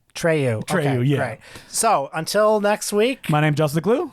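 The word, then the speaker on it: Treilhou: h o u okay so if you had my accent how would you pronounce it what tryu Trey great so until next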